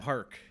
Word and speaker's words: Paak: Is that how you say it? Anderson .Paak? Park.